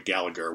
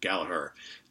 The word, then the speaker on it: Gallagher: I always want to say Rory Gallagher. I think most of us non-Irish folk say Rory Gallagher, but I believe the way he actually pronounces it is Rory Gallagher. I think the G is silent, right?